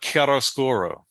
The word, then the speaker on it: Chiaroscuro: Oh, just as an aside, everybody, Ken and I actually looked up the pronunciation of this before we started the podcast. It was A case of Chiaroscuro.